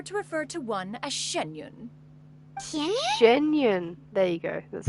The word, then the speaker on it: Xianyun: occasions be sure to refer to one as genun genun there you go that's how you pronounce it genun genun I assume that's a